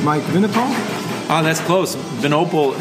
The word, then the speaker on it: Vinopal: minnicott oh that's close venople is how it's pronounced but vinaipal is like pretty much what everyone says they like they like the wine friend piece of it people call me vino